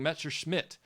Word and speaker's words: Messerschmitt: Well, no, he was saying that he said he heard me pronouncing it with the Smith at the end, and I was like, no, I was saying Messerschmitt. But for some reason, whatever word followed after that, my accent muddied it.